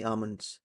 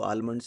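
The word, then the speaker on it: almond: लिया they gave me आमंड इसको आलमंड नहीं बोले इसको एल साइलेंट रहेगा दे गेव मी आमंड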